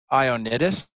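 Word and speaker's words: Ioannidis: then his name's John I own it is I think is how you pronounce his name he's a Greek American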